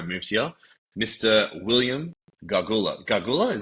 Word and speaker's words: Gargula: Gargula, did I pronounce that right? Yeah, you got it Kind of reminds me of the Gulag.